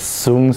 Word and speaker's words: Sun: youngest style which is sun style we pronounce it as soon style and i tell my